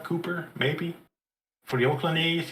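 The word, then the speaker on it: Kuiper: name is Glenn Cooper I think his name is pronounced k-u-i-p-e-r Cooper Maybe for the Oakland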